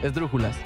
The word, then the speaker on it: brújulas: quedo muy difícil es es ese de r o j l a s brújulas donde lleva el acento en la igual en la primera vez yo creo que